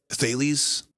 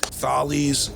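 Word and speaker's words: Thales: great mystery School how do you say it thees but say it again to me I might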